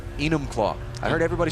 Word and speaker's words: Enumclaw: How do you pronounce that name? Which name? Enumclaw. Enumclaw. Enumclaw.